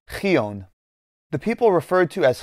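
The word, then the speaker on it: Xyōn: from the middle persian name spelled x-y-o-n likely pronounced something along the lines of creon the people referred to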